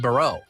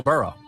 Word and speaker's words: Burrow: Brow. Why did you say it like that? You said Joe Brow. Joe Burrow.